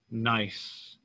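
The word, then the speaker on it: gneiss: is turned into this nice the g is silent but you can always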